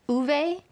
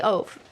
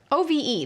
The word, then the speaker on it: Ove: I'm just gonna say Ove, because that's how it's written. O-V-E. There's an E at the end, you pronounce the O. Ove.